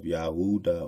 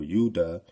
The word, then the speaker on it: Judah: sins like the descendant of yahuda or yudah which is the true pronunciation of Judah Mr Maurice says the